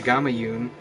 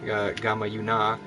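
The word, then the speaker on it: Gamayun: They got to dodge all these men, and anyway, the Gamma Yun, or pronounced in Gamma Yuna, depending on where you are, comes from Russia and back especially to old Russia.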